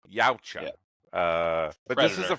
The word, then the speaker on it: Yautja: Is that how you pronounce it? Yautja. Yautja.